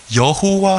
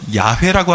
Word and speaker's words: 야훼: 구약에 대표적으로 나오는 하나님의 이름이 무엇이냐면 바로 여호와 하나님이에요. 근데 보다 정확한 발음으로는 야훼라고 하는 게 맞습니다.